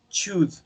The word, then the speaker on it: should: Cuando pronunciamos should, no decimos la L, no, la L no se pronuncia, es como should.